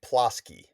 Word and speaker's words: Plosky: And how do you pronounce your last name? Last name is Plaskki. Plasks.